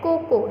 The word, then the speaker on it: Coco: Ceci and Coco. Here hard C because C is followed by O. So Coco. Ceci and Coco.